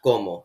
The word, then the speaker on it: como: seyama notice again that there's an accent on the o in como that means the first syllable is stressed and it's pronounced komo not komo depending on